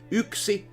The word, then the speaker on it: yksi: Like those are always, if you look at the individual alphabets, they are always pronounced in a same way if you just put